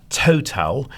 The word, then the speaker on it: Towtal: not far from you are our friends at Total in Stoke-on-Trent. I would give them a call and speak to them. It's spelt TOWTAL.